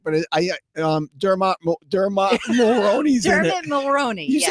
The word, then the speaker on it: Dermot Mulroney: Dermot Mulroney.